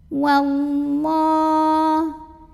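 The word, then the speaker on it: والله: Wallah. Lam jalalah dibunyikan secara tafkhim karena huruf sebelumnya yang waw berbaris fathah. Maka dibacanya tebal, pangkal lidah dinaikkan. Wallah.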